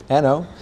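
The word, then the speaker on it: An Oa: So the an o is mispronounced. Uh it's not oa. It's just an o.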